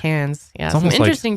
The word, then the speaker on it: Cairns: Yeah, but that's spelled with an R, and then but it's like pronounced cans.